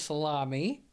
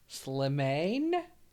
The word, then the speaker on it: Slimane: So the artist's name is Salami. That's what it looks like. Slimane. Mon Amour. Mon Amour is the name of the song. I can pronounce that, not Salami.